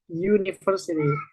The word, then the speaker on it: university: Jadi meskipun di sini Usity tapi dia bacanya menggunakan huruf Y university sehingga dia tidak menggunakan n tapi menggunakan E.